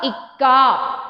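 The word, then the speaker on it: इक्का: E plus ka, ka. Ikka.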